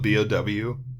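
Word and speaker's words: Beaux: From Scarlet and Willow to Rhett and Bo. If you name your kid Bo, prepare to get his face demolished into the gravel. Is it Bo spelled B-O-W? No, it's Bo spelled B-E-A-U.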